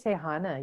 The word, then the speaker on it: Tehana: Tell me how you pronounce the surname. Tehana? Hydee Tehana.